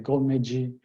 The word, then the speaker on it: golmoji: you'll notice uh in golmoji uh his house word is gomo but when you pronounce it all together it's actually goldmagey that o changes to an a sound that's a little bit